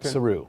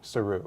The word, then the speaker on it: Saru: Saru. Saru.